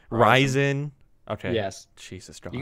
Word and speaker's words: Ryzen: Is that how you pronounce it? Right? Ryzen.